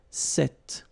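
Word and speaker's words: cet: it's quite interesting because if you listen carefully the masculine form here set and The Feminine form here set you write them differently but then you pronounce them the same way all right for the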